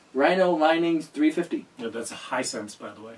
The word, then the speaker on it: Hisense: Yeah, that's Hisense, by the way. Hisense. I said that. Hisense. You left out the second S.